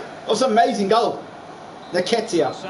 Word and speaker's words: Nketiah: Nketiah. I just called Nikita. This hasn't really been a contest, but all credit to any side committed to scoring goals like this. Nketiah. Now pronounce the name right now.